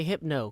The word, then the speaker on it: Hypno: Although we're going to say Hypno, because it rhymes with Etho.